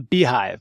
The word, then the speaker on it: Beehiiv: It's on Beehive. It's creatorlogic.beehive, and Beehive is spelled funny.